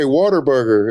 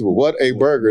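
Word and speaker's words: Whataburger: They say Waterburger. It's what a burger.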